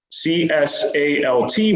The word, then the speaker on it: CSALT: For example, the CSALT waypoint would be pronounced CSAL.